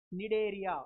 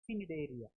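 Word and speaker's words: Cnidaria: mean here c silent here also c silent nidaria we shouldn't pronounce it as pidaria no this is pinopra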